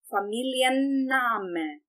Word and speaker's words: Familienname: Outra questão aqui, nós literalmente vamos pronunciar todas as letras desta palavra. Os dois N's, inclusive, aqui também, porque